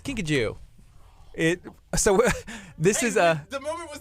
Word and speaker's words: kinkajou: You don't have a Kinkajou?